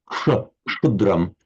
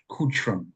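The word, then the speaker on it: क्षुद्रम्: Originally, the same phoneme as the Greek ksa. But in Sanskrit, pronounced as a ksha. Kshudram. Kutram. Kshudram. Kutram. Kutram. So try and put a k immediately followed by a shta, as if it's all one sound.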